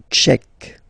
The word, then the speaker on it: tchèque: La République tchèque. So remember, Q-U-E, K, tchèque.